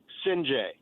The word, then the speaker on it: Sinjay: Last name is very easy to pronounce. Sinjay. That's it.